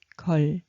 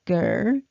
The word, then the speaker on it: 걸: So put them together, we pronounce it 걸, 걸, not girl.